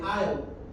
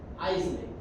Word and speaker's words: aisle: Then we have the aisle. And as you can see here, the S is silent. You don't pronounce it like Isley or aisles. It's aisle without S.